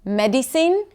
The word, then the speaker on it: medicine: Medicine instead of medicine, medicine. The word is still clear if you know what the primary stress is.